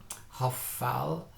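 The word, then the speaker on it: hophal: It's the o sound because it's in a closed syllable. So hoffal.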